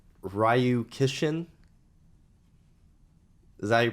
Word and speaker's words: Ryu-Kishin: very familiar so I bought it it's called ryu-kishin is that you pronounce that high you yo expert here yes